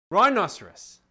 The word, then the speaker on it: rhinoceros: Rhinoceros. R-H-I-N-O-C-E-R-O-S. Rhinoceros. And Rudiger would even help all the other children. You see, it's spelled R-H-I-N, not just R-I-N. The H is silent.